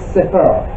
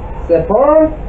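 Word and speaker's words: ספר: All right, so story in Hebrew is Sefer. Sefer, you have to sort of roll your R at the end. It's Sefer.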